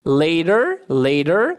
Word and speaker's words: later: Later, pode ter um som de R.